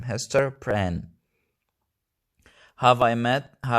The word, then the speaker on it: Hester Prynne: This is how we pronounce Hester's full name, Hester Prynne.